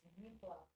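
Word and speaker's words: méplat: Really quick for the pronunciation, it's Mipla. It's French, isn't it?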